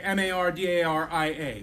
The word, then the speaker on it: Mardarije: And you look at it and you think, what is that, And if you want to know how it sounds, you say Mardaria. Mardarije.